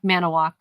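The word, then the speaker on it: Manitowoc: It's mana. Manowok. They don't even like they like shrink it down.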